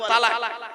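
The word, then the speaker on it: طلاق: বলে কি বলুন তো আরবিতে একটা শব্দ বলে তালাক তাইতো শব্দটা কিন্তু তালাক নয় শব্দটা তালাক নয় আমরা 95% মানুষ আমরা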